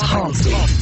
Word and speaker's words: Humpty: My name is Humpty, pronounced with the umpty.